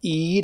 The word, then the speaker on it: Eid: I think it's pronounced Eid. I see it spelled E-I-D.